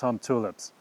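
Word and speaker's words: Humptulips: dirty with this one it's hump tulips huh it really is pronounced hump tulips you're correct you got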